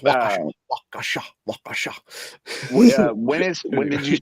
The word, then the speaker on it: Waukesha: No, it's pronounced Waukesha.